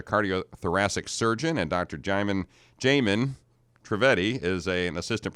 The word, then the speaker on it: Jaimin: to see you thanks for having me it's jamin right yes am i pronouncing that correctly yeah all right we want